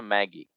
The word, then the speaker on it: Maggi: We call it here not Maggie, but Maggi. It's pronounced in French.